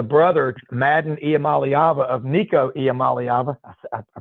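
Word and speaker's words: Iamaleava: But I think what you'll do, you know, old last year, Arkansas had the brother Madden Amalyava of Nico Amalyava. I pronounced it right.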